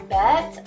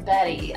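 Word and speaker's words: Bette: It's NARS Bet or Betty. I call it Betty, I don't know. It's spelled B-E-T-T-E.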